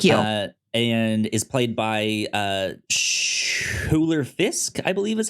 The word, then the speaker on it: Schuyler: I would think it's Skylar, but there's a U in there. SCHUYLER. I think it's Skylar, because I think that's how the Skylar sisters from Hamilton, I think that's how their name is spelled.